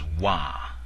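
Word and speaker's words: ဝါ: But if you pronounce wah with a longer sustained vowel, you get the word for the color yellow, that is represented by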